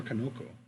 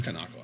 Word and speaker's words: Kanako: Is it Kanako or Kanoko? No, it is Kanako.